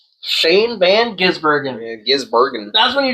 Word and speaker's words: Van Gisbergen: Van Gibbergen. Shane Van Gisbergen.